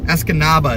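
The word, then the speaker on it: Escanaba: Esanaba is how you pronounce this appear.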